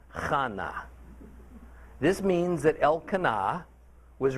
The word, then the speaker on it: Hannah: Now, verse 2 explains that this man Elkanah had two wives, Peninnah and Hannah, pronounced not like Hannah, but like Chana.